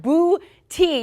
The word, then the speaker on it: Booty: yes we have uh boo tea you were telling me this is exactly how you say it emphasis on the boo but he hadn't had